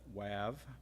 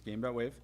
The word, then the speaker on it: Game.wave: And Game.wave, we're no longer mocking anybody else that pronounces that WAV. It's Game.wave.